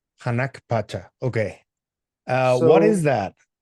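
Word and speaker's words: Hanan Pacha: do you pronounce it? Hanak Pacha. Hanak Pacha.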